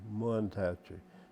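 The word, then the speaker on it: Mantachie: It was just if you from Itawamba County, you don't, I call Mantachi, Muntachi.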